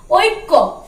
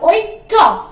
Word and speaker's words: ঐক্য: ঐক্য, ওই কয় জফলা ঐক্য। যখন আমরা হিন্দিতে বলি তখন দেখবে ক এইরকম উচ্চারণটা করি, কিন্তু যেহেতু এটা বাংলা কয়ের উপরে জোরটা বেশি পড়ছে।